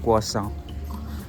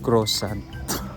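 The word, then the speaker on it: croissant: saka I kuwa kaya yung crossant ang fran the way they pronounce is kuha ka kua and silent sa dulo so kuha sank pero syempre yung mga English nahirapan sila doon pino-pronounce nila as crossant with d sa dulo yun lang.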